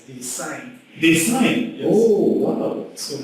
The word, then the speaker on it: Desaine: to know is that when the last name is pronounced as they signed this night oh wow